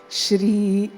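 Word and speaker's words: श्री: make sure we include the r sound where it deserves to be or where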